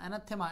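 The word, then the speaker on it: anathema: এর পরে 20 20 নাম্বার বলছে দা ওয়ার্ড এনথেমা এনথেমা এনাথেমা এনাথেমা দেখেন এটা হচ্ছে এনথেমা উচ্চারণ করবেন এনাথেমা এনথেমা এটার মিনিং কি এনথেমা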